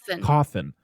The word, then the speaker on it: Cawthon: Cawthon.